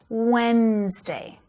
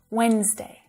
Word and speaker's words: Wednesday: it only has two Wednesday Wednesday and that first D is completely silent Wednesday Wednesday I'm working late